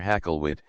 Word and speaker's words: Hakluyt: That man was Richard Hakluyt, or Hakluyt, as his name was commonly pronounced and often spelt by his contemporaries, and that